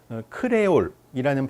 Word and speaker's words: 크리올: 크레올이라는 발음에 혹은 표기에 익숙하신 분들도 있을 거예요. 그건 이제 프랑스어에서는 그렇게 발음하기 때문이고, 우린 되게 영어식으로 크리올 이렇게 말하는 경우가 요즘은 많죠.